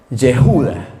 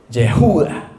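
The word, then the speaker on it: יהודה: Eh, la palabra Juda en hebreo se pronuncia yejuda, así, Jehuda o Jehjudá, ¿me entienden?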